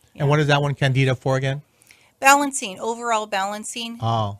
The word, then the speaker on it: Candida: Candida, yes.